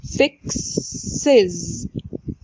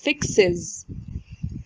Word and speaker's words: fixes: الاس الإضافية هتنطق is fixes fix is fixes.